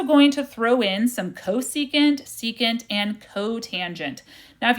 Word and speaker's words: cosecant: opposite over hypotenuse great so that means the cosecant is how you say that the Cs C